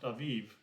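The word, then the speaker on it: Abib: says the month Abid pronounced Aviv the Jewish calendar calls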